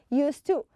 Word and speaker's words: used to: pronounce used to okay used to i don't say i used to la i use two okay i i hardly ever you hardly ever notice i say the d it's a very slight you don't even notice